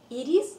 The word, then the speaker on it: ирис: Итак, ирис получил название в честь древнегреческой богини Ириды, вестницы богов. Ударение в имени цветка приходится на первую букву, а именовал его отец медицины, знаменитый древнегреческий врачеватель Гиппократ.